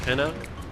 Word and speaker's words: Pinna: like pineapple to me but i guess it's pronounced pinna apparently pen is a latin term for a